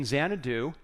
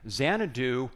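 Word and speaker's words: Xanadu: in case you're wondering zanadu was the English way of pronouncing changu which was the place in China where KublaCon had this Palace so that's where we get the word zanadu very appropriate I think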